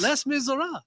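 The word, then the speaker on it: Les Misérables: wonder how Landa pronounces it. Yeah, that's a good question. Them less Oh, yes, miserables. Les Miserables.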